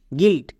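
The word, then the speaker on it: guilt: প্রত্যেকটা দেখো, যেমন জি ইউআই এল টি গিল্ট, এখানে ইউআই জি এবং এল এই দুটোর মাঝখানে আছে, তার মানে এর জন্য আমরা হস্তিকার সাউন্ড করব। যেমন জি এর জন্য গো, ইউআই এর জন্য হস্তিকার মানে গোয়ে হস্তিকার, এল টি এর জন্য লোয়ে টো গিল্ট।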